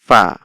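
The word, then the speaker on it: ف: খেয়াল করেন এখান থেকে ফার উচ্চারণ কি হবে এই যে ছবিটা দেখে এরকম ভাবে চেষ্টা করবেন যে নিচের ঠোঁটের পেট নিচের ঠোঁটের পেট সামনের উপরের দুই দাঁতের আগার সঙ্গে লাগিয়ে উচ্চারণ হবে ফা ফা ফা ফা এরকম ফা ফা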